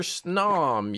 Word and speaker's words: Snom: You pronounce snom like gnome.